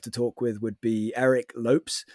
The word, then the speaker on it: Eric Lopes: I guess somebody else I would really love to talk with would be Eric Lopes, I think is how it's pronounced, but I always think it looks like Eric Lopez, but Eric Lopes.